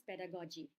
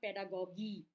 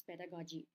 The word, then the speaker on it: pedagogy: One is G, one is J, but both are G, right? So remember this, committed to your mind. It is pedagogy. Okay, not pedagogy. It is pedagogy.